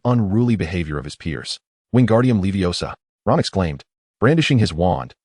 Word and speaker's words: Wingardium Leviosa: "It's Wingardium Leviosa. You must pronounce it more clearly.